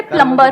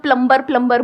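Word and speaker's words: plumber: मेरे को समझ नहीं आता, अगर तुमको अंग्रेजी बनाते वक्त बी को साइलेंट रखना ही था तो लगाया ही क्यों?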